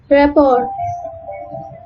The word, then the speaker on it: rapport: Letter T is silent in some French loan words such as ballet, gourmet, and rapport.